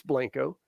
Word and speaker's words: Blanco: here in Blanco Texas it's not Blanco Texas all you folks coming from out of state we're Texan it's Blanco I've got a YouTube